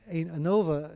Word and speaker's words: ANOVA: ANOVA is how it's pronounced, but analysis of variance.